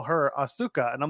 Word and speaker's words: Asuka: week how it's pronounced the U is is silent it's a bridge letter it's like you don't